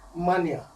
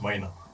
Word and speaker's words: Maina: His name is Mania. Oh, I didn't pronounce it well. It's pronounced Maina.